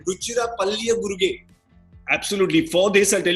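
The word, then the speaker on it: Ruchira Palliyaguruge: See, you got to give me just for pronouncing his whole name right. Ruchira Palliya Guruge.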